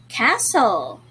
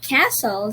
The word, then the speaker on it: castle: word is read differently not all letters are sounded therefore this is an irregularly spelled word right okay let's have